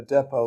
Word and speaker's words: depot: A depot, let me explain for our audience, a depot or your depot, you can pronounce it either way, is an injection where